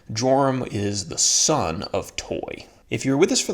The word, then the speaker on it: Toi: Okay, so then we're going to talk about a guy named Toi, which I'm assuming is pronounced Toy.